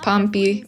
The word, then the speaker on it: Pompey: What about youngest Pompey? Rhymes with stompy.